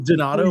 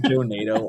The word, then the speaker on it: Donado: So it it is Donado, but I get Donato all the time.